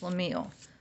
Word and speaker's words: shlemiel: Excuse me, pronounced Shlemiel to rhyme with reveal.